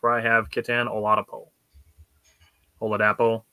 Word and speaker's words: Oladapo: Oladapo, Oladipo. Oladapo. I've heard it pronounced multiple ways.